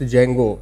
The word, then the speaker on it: Django: Django is pronounced Django. The D is silent.